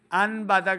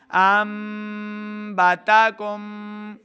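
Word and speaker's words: أنبتكم: جب بھی نون ساکن کے بعد حرف با آئے گا تو ہم نے اس کو کیا کرنا ہے، میم سے بدل کر پڑھیں گے. ان باتک نہیں کریں گے بلکہ ہم نے میم کے ساتھ اس کو بدل کے پڑھنا ہے.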